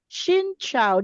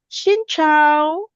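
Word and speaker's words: Xin chào: So in Vietnamese that is Shincho. Did I say it correctly? Shincho.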